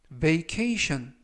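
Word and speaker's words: vacation: 써라 라는 표현이 되겠습니다 이번 표현은 메이 케이 션 메이 케이션 베이케이션 이라고 발음 하시면 되겠구요 이때 끝부분에 있는 ti 고 에는 4개의 철자가 동시에 션 발음이 납니다 품사는 명사 뜻은 휴가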